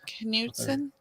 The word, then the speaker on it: Knudsen: Morgan Knudsen, I think is her, how you would pronounce her name. Knudsen.